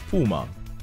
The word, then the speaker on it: Puma: Yes, the other brother started his next brand, which is Puma. Pronounced normally as Puma, like the animal.